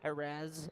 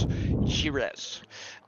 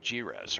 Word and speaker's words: Jerez: did you did yep if you listen to the uh the Spanish translation or how it's pronounced it's shirees I'm not a Spanish speaker so I can't do it very well but it is jiras or at least how it's